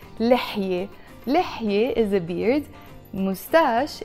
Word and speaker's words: لحية: So that's why لحية alone, we don't pronounce a te marbuta.